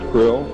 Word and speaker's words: Krill: was his omnipotent highness krill pronounced grill spelled k-r-l-l-l-r-c-r-l-l-l in the